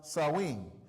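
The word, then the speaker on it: Samhain: ancient Celtic Festival of Sam hay pronounced sinen the Celts who lived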